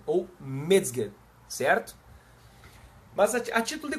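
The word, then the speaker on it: Mezger: ficava pensando mas T como é que eu pronuncio isso aqui né edmund medger Né o mger não é não se fala Messenger m e z G E R Messenger se fala mger ou mger certo mas a título de conhecimento pessoal já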